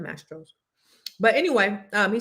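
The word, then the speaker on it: Mastro's: So, I just want to tell anonymous the waitress didn't say maestros. She said mastros.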